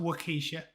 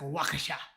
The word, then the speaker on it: Waukesha: people who died at wakeesha how would you pronounce it sadlings wakeesha apparently it's not wakeesha it's some i guess because it's near america it's like wakasha um i'm english if surely the english can